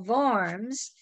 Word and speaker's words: Worms: have to remember that the letter w in german is pronounced like the english v so from a pronunciation standpoint the name is del varms if you're talking about